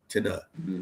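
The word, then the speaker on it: Tenah: Tina. T E N A H. My own Yeah, that's how you spell it.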